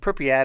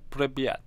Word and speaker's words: Pripyat: But that town of Pripyat or whatever, however you say it. You have to say it like you're a Russian guy. Pripyat.